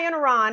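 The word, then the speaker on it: Iannarone: make sure i say her name correctly sarah i in iran yes i said that right sarah ian iran has been um doing a a pretty interesting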